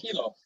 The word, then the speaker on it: Hilo: Hilo. University of Hawaii. In Hilo, which is really cool that you got to study. Hilo, Hawaii is the second largest city in the state. Okay. Yeah, Hilo is the second largest city in the state,